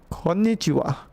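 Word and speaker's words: こんにちは: this is chi, and this is ha actually. But you don't pronounce it ha, okay? It's kind of weird quirk, okay? Pronounce it wa. So, konnichiwa.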